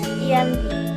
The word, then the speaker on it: Giyanti: berada di desa jati dalam pelafalan Belanda nama Gianti sering disebut sebagai Yanti tetapi secara tertulis dia terbaca sebagai ujian tinggi tempat tersebut sekarang terkenal